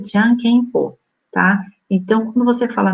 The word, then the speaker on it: Jokenpô: A brincadeira Jokenpô, aí eu escrevi Jokenpô, porque se você pesquisar na internet, você vai achar Jokenpô, mas na verdade ela se pronuncia Jankenpô, tá?